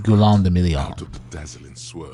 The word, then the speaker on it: Guillaume de Million: If it doesn't rhyme, you're not pronouncing it Guillaume de Million.